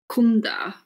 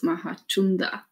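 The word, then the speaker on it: Mahācunda: that everyone was reading Kunda, but his name was Mahachunda as well. The letter C is always pronounced Cha. Cha. CH, the H doesn't add as it does in English, the CH sound.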